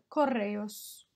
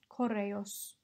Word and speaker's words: correos: deportiva and finally couriers coreos it's great if you can roll your raw if not don't worry just sort of spend a little bit more time on it coreos excellent edgy Kos well